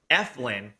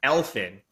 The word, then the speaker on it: Eflin: wager talk today and i kept calling zach eflin zack elfin for whatever reason i've done this for like four years i keep i've said his name wrong since he's been in the league and i can't i don't know if i'm like a little dyslexic and i see the f and the l differently but i can't wait